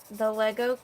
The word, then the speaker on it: Lego: she said I love Lego see you know the proper way to say it don't you Lisa yeah everyone says Legos so it's the guy